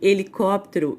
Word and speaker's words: helicóptero: a letra h né quando eu falo a palavra hora hélice e helicóptero hipopótamo eu não saio não produz o som do h eu não vou falar